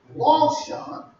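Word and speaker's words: לשון: And then there's another word, looks like Lashon, but it's pronounced Longshon.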